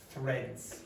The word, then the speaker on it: threads: Okay, so this is a problem here because this z at the end, threads. Right. So remember I told you how you pronounce this, you have your tongue like this. Well, for the z, it just retracts back.